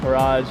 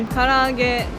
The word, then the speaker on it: Karaage: other people say in that's Japanese that's not pronounced right. Like edamame. Edamame. Edamame. Edamame. Karaoke. Karaoke. Karaoke. Karaoke. Garage with Gyoza. garage with gyoza. What is it supposed to be? Karaage and gyoza.